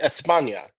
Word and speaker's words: España: It's pronounced España.